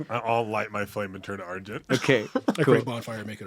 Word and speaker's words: Argent: our flame is my flame is Argent down that's exactly how you say it but our flame is